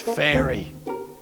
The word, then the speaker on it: Ferry: Ferry? It's pronounced fairy.